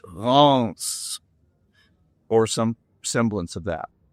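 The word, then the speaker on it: Reims: Think of pronouncing the name of the country, but instead of saying France, drop the F and it's Ronce.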